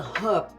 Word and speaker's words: herb: This one is a herb. H-E-R-B. The H is silent, Mom.